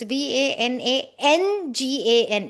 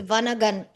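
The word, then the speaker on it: Vanangana: Ah it might be because it I might be pronouncing it completely incorrectly because it's v a n a n g a n a so it's vanagan vanangan.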